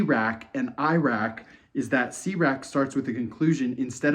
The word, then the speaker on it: CRAC: capital a Capital C crack pronounced cak oh it's not pronounced crack it's pronounced cak cak to avoid any unwanted connotations is a tool to